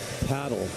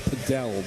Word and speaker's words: padel: I played paddle, or it's pronounced padel by some.